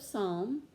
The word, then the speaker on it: Psalm: Psalm 107 one and I'll spell that for you just in case you have a little trouble with how it's spelled PS a LM 107 one that means you're gonna look in the book of some you're gonna find chapter